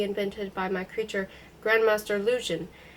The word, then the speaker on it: Luzhin: by my creature, Grandmaster Luzhin. The name rhymes with illusion, if pronounced thickly enough to deepen the U into an oo.